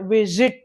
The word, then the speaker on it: visit: Not it's not visit. It is visit. Z. The voice. is the sound of sa sa s is a voiceless z is a voiced sound that's the difference visit